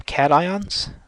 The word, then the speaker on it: cations: these non-metals and so the metals form cations the non-metals form anions that's how you pronounce those terms and so elements in